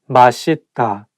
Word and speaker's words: 맛있다: 맛있다, delicious. 맛있다, delicious. So it's okay because even some Korean people sometimes just by mistake say 맛있다, but actually the correct pronunciation is 맛있다.